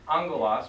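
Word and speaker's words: ἄγγελος: Two gammas together sound like unk. So, like for instance, angelos means angels. It's spelled not with a alpha and then the N and the G and the E. It's spelled with two G's. A-G-G-E-L-O-S. And those two G's together spell unk.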